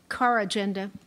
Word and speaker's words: corrigenda: Are there any alternate pronunciations? Car agenda. May you please repeat the word? Core agenda. May I please have the language of origin? This word is from Latin. Core agenda. Core agenda.